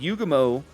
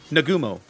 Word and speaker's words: Nagumo: found helps understand some of the decisions that yugo mo um i'm getting the name wrong no nagumo chu chinugumo that nagumo made later on in